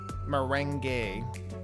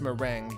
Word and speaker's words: meringue: Merangay, but pronounced meringue because French, I guess.